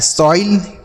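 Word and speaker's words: soil: जैसे एस से हो गया स और ओ के साथ आई है तो हो गया सॉई। उसके बाद एल से लौ। ये लिखा है सोइल। क्या लिखा गया है? सोइल।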